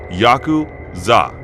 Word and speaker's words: Yakuza: The rules of the game are fairly complex, but the worst possible 3 cards to draw are 8, 9, and 3, pronounced Yaku-za in Japanese.